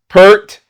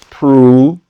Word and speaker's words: Pruitt: Like okay, Pruitt, Pert, and Pert. Pert. Oh, okay. Like no, Pruitt.